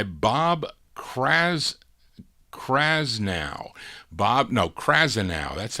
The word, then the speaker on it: Krasnow: early production by Bob crass krasnow Bob no krasnow that's how you pronounce it Bob krasnow who subsequently would be the executive revitalizing Elektra